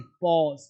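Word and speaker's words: pause: अगस्त अगस्त पॉज पॉज में विराम पास नहीं पॉज पॉज।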